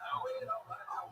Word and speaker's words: Eoghan: I spelled Eoghan, but it's pronounced Owen.